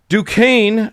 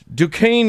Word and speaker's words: Duquesne: In 1967, a small group of apparently disgruntled Catholics met at the Catholic Duquesne. I have to remind myself how to pronounce that because it's spelled Duquesne. Duquesne University.